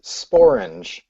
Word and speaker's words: sporange: The word sporange rhymes with orange, and that's the part of the mushroom that produces spores.